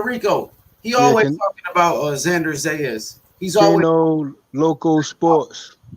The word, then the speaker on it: Xander Zayas: mean how you say his name I'm trying Xander zayas Xander is yeah I'm trying to get his